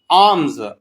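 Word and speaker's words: alms: आर्म्स आर्म्स कहते हैं खैरात को। इसमें एल साइलेंट है आर्म्स खैरात।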